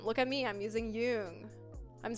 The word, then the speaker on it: Jung: I'm using Jung.